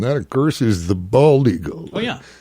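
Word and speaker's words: balde: bald actually comes from an Old English word pronounced bald but spelled b a l d e okay really which in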